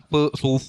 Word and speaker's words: pho: Pho. Eat Oh pho. yeah. Is that how you pronounce it?